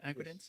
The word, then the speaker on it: Agridence: You say that your company, Agridence, did I pronounce it right? Agridence?